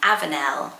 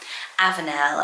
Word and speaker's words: Avenel: Okay, for boys, how about the name Avenel? Avenel, I thought that was really lovely, and it means oat pasture. It's spelled A-V-E-N-E-L, Avenel. It sounds more feminine to us because of Nell maybe at the end.